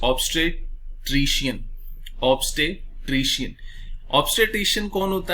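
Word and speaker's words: obstetrician: ठीक है, प्लीज इसके प्रोनाउंसिएशन पे थोड़ा सा ध्यान दीजिएगा. सो the word is ऑब्स्टेट्रिशियन.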